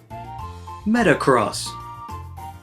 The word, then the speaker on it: Metagross: Metagross. There's a G right there.